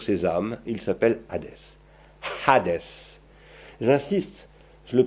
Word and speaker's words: Hadès: dieu règne sur ces âmes il s'appelle hadès hadès j'insiste je le prononce à des ch on vous signalant que